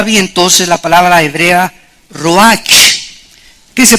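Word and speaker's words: רוח: entonces la palabra hebrea Roach que se pronuncia Roach la ch en el hebreo se pronuncia como jota y que es la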